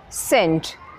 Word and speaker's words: scent: Scent. S-C-E-N-T, scent. The C is silent.